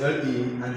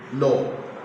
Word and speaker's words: law: the next note is L and it's spelled law l a w law so it is law not La this is La L A this is law now this is t